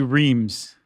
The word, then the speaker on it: Reims: But we even have a thing in here that says if you say Rheims, then you're an American city slicker. If you say Reims.